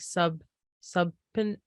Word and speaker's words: subpoena: It's like subpoena.